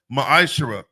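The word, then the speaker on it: מעשר: In the Hebrew, it's pronounced ma'ashara.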